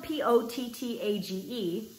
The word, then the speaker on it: pottage: It's spelled P-O-T-T-A-G-E, so you could probably say potage or potager or like pootage. But I think it's probably pottage, because it's spelled like cottage, but with a P.